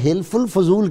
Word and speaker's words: حلف الفضول: ہے۔ بہت شکریہ جی، یہ حلف الفضول کہتے ہیں، حلف الفضول کہتے ہیں، تلفظ آپ درست کر لیں۔ بسم اللہ الرحمن الرحیم۔